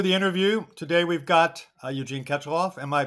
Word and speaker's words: Eugene Katchalov: Today we've got Eugene Katchalov. Am I pronouncing your name correctly, Eugene?